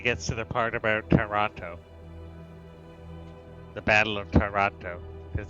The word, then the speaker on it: Toronto: you're really advanced uh you don't even pronounce it with the first t it's toronto or if you're from